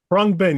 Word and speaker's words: Khruangbin: I think it's Khruangbin. Khruangbin, you're correct.